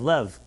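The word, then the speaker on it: לב: Love is pronounced Love, Lev. In Hebrew, Lev is a heart. Lev can be pronounced as love.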